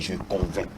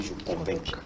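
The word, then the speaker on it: convaincs: nous dit je convains il y a des gens qui prononcent le C mais parfois le C n'est pas prononciable ça ve dire je convainc mais certains dis je convainqu voilà je convainc tu convainc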